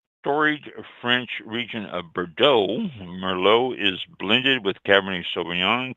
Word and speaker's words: Merlot: The T is silent, pronounced Merlot.